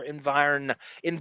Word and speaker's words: environment: This doesn't fly in any other environment. See, I pronounced the N, David.